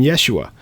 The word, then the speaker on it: Yeshua: would have called his name name Yoshua or yosua or in Hebrew would have been Yeshua so it doesn't mean